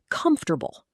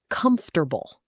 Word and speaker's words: comfortable: Comfortable. Comfortable. Sounds like comfortable. 3 syllables in natural speech. Tip, not com-FOR-ta-ble. The middle syllable almost disappears. Comfortable. Fast and light.